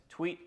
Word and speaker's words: Thweatt: Hey everyone, my name is Thweatt. Yes, pronounced tweet like a bird or tweet like Twitter.